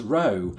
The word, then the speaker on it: Rowe: And I pronounce it thus, Rowe. And I think, the fact that it has an E on the end kind of informs my pronunciation there.